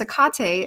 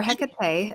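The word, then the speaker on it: Hecate: yeah and then there's a Kate as well or hekate depending on how you want to pronounce it you know she's so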